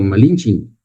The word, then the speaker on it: Malinche: Malin se convirtió en malinche porque el sin se pronunciaba como malinchin. Españ malinchin malinche.